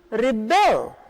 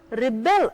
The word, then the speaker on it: rebel: The word is the same, it's spelled the same way, but it is pronounced differently, and because the stress falls on the second half, it's a different word. Children rebel against their parents.